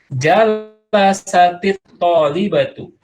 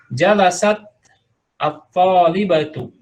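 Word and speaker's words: جلست الطالبة: Ini padahal asalnya jalasat, ya, tapi karena bersambung ketika sukun dengan sukun, maka dia menghasilkan kasroh ketika membacanya disambung, ya. Tapi kalau dipisah, jalasat at-talibatu, ya, alif lamnya atau hamzahnya dibaca jalasat at-talibatu. Tapi kalau disambung jalasat talibatu, ya.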